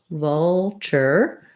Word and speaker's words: vulture: So we have the word signature. Signature. First syllable stress, lacks if vowel.